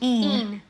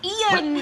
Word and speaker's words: Ian: They call Ian, like someone called Ian, they call Ian. Ian. And we're like, no, it's 2 syllables, Ian.